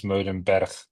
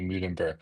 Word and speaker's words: Meulenberg: The official pronunciation is Meulenberg, but a lot of people would struggle with that. So Indeed. yeah, normally in South Africa I say Meulenberg, so that's perfectly fine.